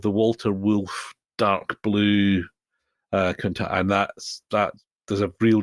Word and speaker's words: Countach: So everybody went sort of bananas for the white Countach, to pronounce it, I think, correctly.